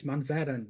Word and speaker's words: Manveren: It's Manveren, not Manvechen.